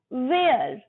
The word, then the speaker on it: where: Next where. Where. Where वो hair नहीं, H फिर साइलेंट रहेगा।